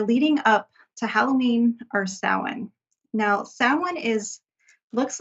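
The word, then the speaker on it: Samhain: up to Halloween or sa now sa is looks like it would be is spelled Sam hay like s a m h a i n but it is announced s like s o w n people say that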